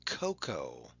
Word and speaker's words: cocoa: A special case is the word cocoa. In fact, this is the only word that ends with OA, making a long O sound.